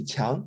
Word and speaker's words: Chiang: My name is Qiang. Yeah, I understand it is extremely difficult to pronounce.